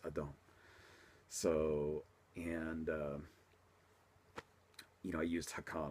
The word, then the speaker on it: Adon: And I'm not sure how the English pronunciations are actually, because we in Street Fighter 1 we call them Aiden, but obviously in the Street Fighter 4 the pronunciation is Adon.